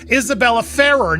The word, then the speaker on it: Isabela Ferrer: I I I look, I learned how to say this girl's name, Isabella Farah.